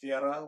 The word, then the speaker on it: Vera: A self-fulfilling prophecy, she might add, of Vera's disdain for school. I'm going to use the American Ver here instead of Vira, which is the correct way to say it.